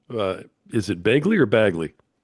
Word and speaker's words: Bagley: Well, typically I say Baggley, but I have a lot of friends in Chicago and they they do call me Begley.